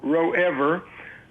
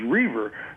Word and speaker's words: Roever: r-o-e-v-e-r i get called row ever i get called revere i get called rover but i seldom ever called and literally by my actual pronunciation which is reaver always silent i think